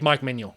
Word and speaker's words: Mike Maignan: would you would take Mike Manuel right now and by the way just to clarify that is the correct pronunciation of the name I did actually um